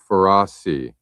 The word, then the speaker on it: Ferrasi: Andrew Ferrasi is the pronunciation there.